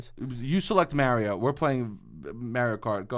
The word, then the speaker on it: Mario: This is how you say it, Mario. And then all these other people correct me and say Mario, and they're from who knows where.